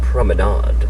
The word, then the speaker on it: promenade: promenade no passengers allowed it's pronounced promenade you'll watch tonight Elle